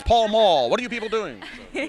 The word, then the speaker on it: Pall Mall: I went to Pell Mell. What the hell? It says Pall Mall.